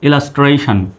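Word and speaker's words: illustration: এস ইলাসটি আর এ টি আই ওন সন ইলাস্ট্রেশন ইলাস্ট্রেশন আমার সঙ্গে সঙ্গে উচ্চারণ করবেন তাহলে ভালো হবে আই ডবল এল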